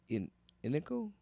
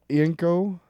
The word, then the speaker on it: Ienco: Written by Benjamin Percy, artist Raphael Inico? No. You do the fucking names. I always fuck them up. Benjamin Percy, Raphael Yinko. Yinko. Oh, look at you stumbling. It's IENCO, so I'm going to say Yinko.